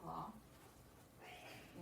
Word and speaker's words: les: La, which looks like la. You have something that's an L apostrophe. Then you have lay, which is spelled L-E-S.